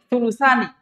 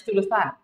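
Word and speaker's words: ثلثان: Sulusan. Ini bacanya sulusan. Sulusan.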